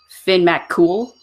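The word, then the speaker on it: Fionn mac Cumhaill: let's see the it's looks like fee on Mac come hail and it's actually Finn Matt cool and I'm sorry that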